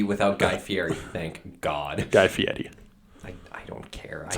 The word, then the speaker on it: Guy Fieri: Guy Fieri. I don't care. That's how you pronounce it.